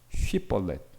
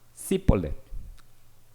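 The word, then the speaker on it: שיבולת: SH가 있고 아나는 SI예요. 그러니까 그냥 SH냐. 그러니까 이거를 제가 히브리 말을 찾아보니까 쉬볼렛 이렇게 얘기를 하는게 정상입니다. 근데 이게 쉽는 거예요. 그러니까 시벌렛 이렇게 하는 거예요.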